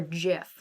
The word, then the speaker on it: GIF: is still consignment um so g with a hard g like gif or jiff like peanut butter yes hildy getting vaccinated